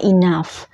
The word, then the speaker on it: enough: Jadi GH itu dalam bahasa Inggris dibacanya F. Jadi kayak contohnya enough, rough, cuff. Nah itu kan bacanya F ya.